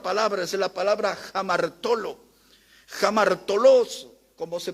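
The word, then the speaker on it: ἁμαρτωλός: Jamartolos, como se pronuncia, es un término relacionado con un ladrón.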